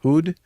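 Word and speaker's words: Houd: How do you pronounce his name? H O U D. Hood.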